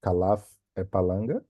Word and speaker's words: Kalaf Epalanga: My name is Kalaf Epalanga.